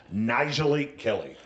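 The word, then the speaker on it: Nyjalik Kelly: Nijalik Kelly.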